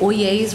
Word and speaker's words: Oyezz: is melody I'm with oh yeas Real Estate's pronounced oh yeas like oh yes but oh yeas I should turn the